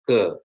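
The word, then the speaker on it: הא: Konsonan Ibrani he ya. He diucapkan seperti H dalam kata hati.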